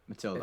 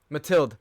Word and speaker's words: Mathilde: Matilda. It's Mathilde.